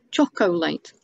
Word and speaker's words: chocolate: with it for fun so there are three parts to that word because there is an o in the middle that we don't actually say when we're pronouncing it um friend is the